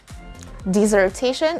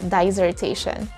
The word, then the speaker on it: dissertation: again dissertation or dissertation the correct answer is dissertation and not dissertation for our example sentence she was able to